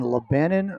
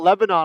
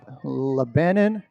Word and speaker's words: Lebanon: It is being held in Lebanon, Ohio. Not Lebanon, Ohio, as I made the mistake last week. No, Lebanon.